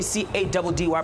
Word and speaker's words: Caddy: Your boy C-A-D-D-Y pronounced Caddy.